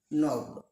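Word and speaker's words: knob: Next word খে এন ও ভি নব। কে উজ্জ্বল। Next word আমরা চলে যাচ্ছি ডি সাইলেন্ট।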